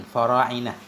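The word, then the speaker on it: فراعنة: Wahwa bi fathil fa'i war ra'i wa kasril aini. Wahwa, dan dianya fara'inah itu bi fathil fa, cara bacanya dengan fathah fa, war ra'i dengan fathah fa dan ra, wa kasril ain, dan dengan kasrah ain, fara'inah.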